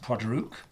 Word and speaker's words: Port Ruighe: Also, it's pronounced Port Ruighe, and Port Ruighe is the capital of the Isle of Skye.